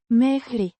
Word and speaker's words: mergi: Pronounced Mehri.